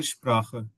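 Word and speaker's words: Muttersprache: motor शप्रा Motors श्रा या एस पी भी आ जाए तो इसको भी हमने शप प्रोनाउंस करना है शप्रा जैसे एस टी को हमने स्टंट बोला था ऐसे ही एस को हमने शप्राख बोलना है मोटर और कि कंट्री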